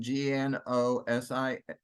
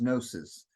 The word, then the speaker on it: gnosis: but the name gnosticism g-n-o-s-i-s is gnosis comes from the Greek word gnosis which means knowledge and you notice by the way the GE is silent so it's like it's not there um so the name